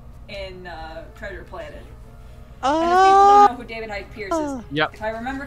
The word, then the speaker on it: David Hyde Pierce: chris rock and oh i always get his name wrong david hype pierced david hyde pierce who played drix is such a great combo